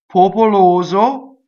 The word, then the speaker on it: popoloso: And the S rule is in effect, right? The S is on completely on the second syllable. Popoloso. O. Four O vowels in a row.